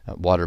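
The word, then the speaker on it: Watir: Water, by the way, is spelled W-A-T-I-R.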